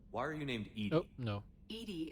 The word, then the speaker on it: EDI: are you named no edie is the phonetic pronunciation of edi that is an acronym